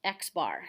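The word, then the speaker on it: x̄: talking about the mean from the sample it's pronounced x bar so x bar means that it is the average or the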